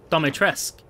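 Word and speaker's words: Dimitrescu: Dimetrescu.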